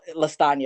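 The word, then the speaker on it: Latanya: So Lastanya, it rhymes with lasagna, but everybody calls me.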